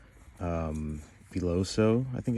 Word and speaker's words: Filoso: the Todd B um foso I think it's called It's pronounced filoso this is the smaller